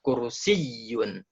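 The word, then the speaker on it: كرسي: Nah terus yang ketiga kalau ada huruf tasydid maka tekan Hai pelafalannya di huruf tasydid contohnya di sini ada kata kursiyyun knalpot kursiyyun kursiyyun kursiyyun yang tadi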